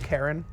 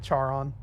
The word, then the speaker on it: Charon: gonna laugh it's pronounced karen i know it looks like charon and that's how i pronounced it before but it's actually pronounced karen if you google it